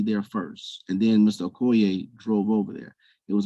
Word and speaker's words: Okoye: stated that the victim the murder victim Mr Okoye um am I pronouncing that right is it Okoye um it's good that's good for me okay